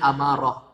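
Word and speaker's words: أمارة: Nah, ini imarah, kekuasaan, tapi kita bacanya amarah. Amarah itu artinya tanda-tanda, ya, tanda-tanda, al-alamah, tanda. Nah, ini bahasa Arab ini, beda harakat, beda arti.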